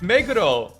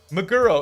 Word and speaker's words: Meguro: It's Meguro. Muro. It's not Muro. It's not Maguka, please.